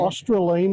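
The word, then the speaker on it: Australind: Australine, it's pronounced.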